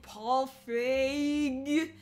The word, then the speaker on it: Feig: and then was our last one how to pronounce this director's name big fade feed vfa hey paul feig the director of ghostbusters so no reboot so